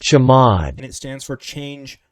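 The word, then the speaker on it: chmod: pay very close attention I call this command chamod I don't know how it's actually pronounced but I call it chamod okay I just looked it up and it is actually pronounced jamad and it stands for change mode which is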